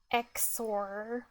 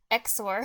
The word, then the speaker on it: XOR: cuz I I said I said zor cuz it's like more fun and easy to pronounce and more efficient most importantly more efficient cuz the e x is like a it's a consonant cluster that's why consonant clusters are less fun CU it's sensation